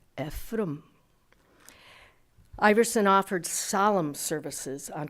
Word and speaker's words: Ephraim: He would have pronounced it Ephraim.